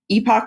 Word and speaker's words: epoch: that we have entered a new Epoch or epic depending on how you say it of geology and we